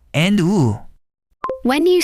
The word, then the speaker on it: ㅜ: I get confused between the pronunciation of o and u.